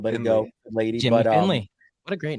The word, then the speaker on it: Findlay: So that's the name. Finley I love Hats, it. baby. So let it be known. Yeah. Finley for everybody. Yeah. Yeah. Love Yeah, that. but here's the deal. If someone mispronounces it, we don't go out of our way to correct it unless they call it Findlay or Findlaw, which we've had.